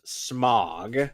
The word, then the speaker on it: Smaug: It's pronounced Mog. I know I'm making a joke. No, smog as in No, it's pronounced smog.